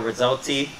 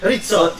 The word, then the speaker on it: Rizzotti: I'm here with Rizzotti. Say it right. Yeah, I'm just kidding. Yeah, you say it right. That's okay. Rizzotti. It's a little tricky to pronounce.